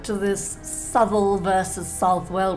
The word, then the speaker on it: Southwell: the mall now not that snooty the mal pronunciation don't get picky on me I was all for subtle you convinced me it's south well anyway so I think this egg land is